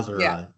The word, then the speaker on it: Jahzara: Jahzara, to pronounce it Yep.